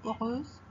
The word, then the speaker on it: heureuses: 8, elles sont toutes heureuses. L'adjectif heureuse commence par un H muet et non un H aspiré.